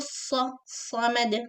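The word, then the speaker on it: الصَّمَد: Sad should be extra heavy, not sa. Samad, sa. This is seen. Sa. Also, do not circle your lips when you pronounce sa. Heavy letters should not be pronounced with your lips. They should be pronounced with your tongue.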